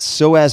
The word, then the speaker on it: psoas: SOAS major. I also mentioned SOAS major. That's spelled P-S-O-A-S major.